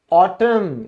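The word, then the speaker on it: autumn: अगला आपका अक्षर है एन, और एन क्या कहता है, यदि किसी वर्ड के एंड में एम एन साथ आ जाए तो एन को साइलेंट कर दो, ठीक है ना। जैसे पतझड़, ऑटम, यहां साइलेंट हो गया।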